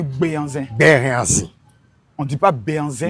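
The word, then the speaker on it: Béhanzin: On dit on dit pas Benzin, on dit Béanzin.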